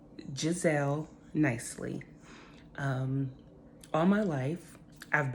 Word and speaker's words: Jazzelle: be so let's get started my name is pronounced in gizelle nicely all my life I've battled with my